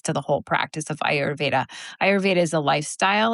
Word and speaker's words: Ayurveda: like define what is Aurvedic. Am I pronouncing that correctly? Auraved. Yeah. Ayurveda. Yeah.